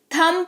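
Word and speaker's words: thumb: B silent होता है, जिसके वजह से ये थंब नहीं थम पढ़ा जाता है, जिसका मतलब होता है अंगूठा।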